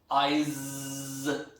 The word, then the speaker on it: eyes: But for example, if you pronounce eyes, because the last sound is not s, that becomes z. Okay, so when you pronounce this, eyes, eyes.